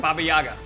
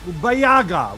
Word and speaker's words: Baba Yaga: How do you pronounce that again? Baba Yaga. Wait, Bayaga, whatever. Baba Yaga, yep.